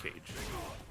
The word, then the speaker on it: Kage: I believe it's pronounced Cage.